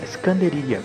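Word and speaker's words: إسكندرية: importante é Alexandria né em árabe você fala iskandaria por isso que as músicas de Miley alaf né normalmente os cantores pronuncio a palavra iskandaria durante almoço Porque fala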